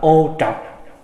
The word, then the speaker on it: ô trọc: Người Bắc đọc là ô trọc, người Nam đọc là ô trược.